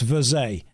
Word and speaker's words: Verge: It's French, pronounced Verze.